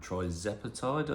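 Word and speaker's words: tirzepatide: Um the Moano one contains something called tepatide I believe is how you pronounce it.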